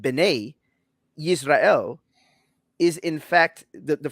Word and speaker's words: Bene Israel: the phrase that that's mispronounced which is properly pronounced bene israel is in fact the the phrase bene in